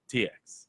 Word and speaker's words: TX: It's TX because no one can pronounce his fucking last name. It's pronounced TX.